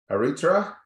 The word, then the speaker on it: Aritra: Aritra? Is that the pronunciation?